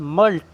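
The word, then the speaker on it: mulct: उसके बाद मल्ट, यहाँ पर सी साइलेंट है।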